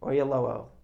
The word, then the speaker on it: Oyelowo: Oyalowo? Oyelowo.